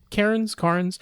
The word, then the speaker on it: Cairns: Oh, wait, there is an R in there, yeah. There is an R in there. Carnes.